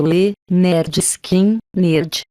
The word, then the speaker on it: Lynyrd Skynyrd: O disco de estreia iniciam a gravação de pronúncia de Le Nerd Skin, nerd em português, pronunciado Le Nerd Skin, nerd, seu disco de estreia, no estúdio 1 de